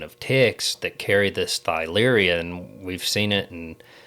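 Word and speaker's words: Theileria: known to cause this thyleria or tyleria. I'm not sure. I say thyleria because it's spelled with a TH, but I think I've heard others say it like tyleria.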